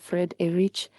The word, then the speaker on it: Friedrich: It is pronounced Fred Erich, and I'm from Azania, what used to be called South Africa.